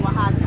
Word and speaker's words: Oaxaca: The X is pronounced like an H here. Yes. Oaxaca.